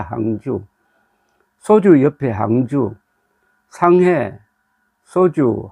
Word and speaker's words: 항주: 두 선수뿐만 아니라 이번 황재우 황재우 아고 하니까 어디에 있는 지명인 모르시는 분들이 많을 겁니다이 중국 지명을 중국 사람들 발음으로 소개하면 안 됩니다 이거는 그냥 한자음으로 해야 됩니다 한주입니다 항주 소주 옆에 항주 상해